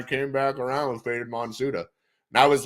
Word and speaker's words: Monsuta: He was like, it's Monster. Yeah, you know, like if you say the fucking actually in the phonetics spelling in Japanese, I was like, yeah, that's why I did an English phonetic spelling or pronunciation of it.